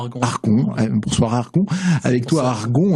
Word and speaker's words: ArgoN: acoustique, mais ce soir avec toi Argon, on prononce comment ? Argon.